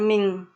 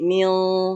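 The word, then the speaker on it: من: Itu dibacanya bukan ming ya. Bukan ming tapi mil ya. Bukan ming tapi mil, agak tebel dia.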